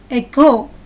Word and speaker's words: echo: The CH syllable is pronounced as k, k. Ache, k. Echo, k.